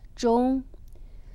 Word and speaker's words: 钟: Clock you don't give as a gift because the pronunciation of clock in Chinese is 钟. 钟, it's also the pronunciation is finished and end.